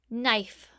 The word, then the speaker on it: knife: KN can also make the N sound. Today that K is silent, but in the past people used to say kn when they saw these letters. Today we just say N, but we still spell it with the K.